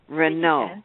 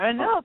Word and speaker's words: Renaut: You pronounce it. Renaut. Oh. You did. Yeah, Renaut.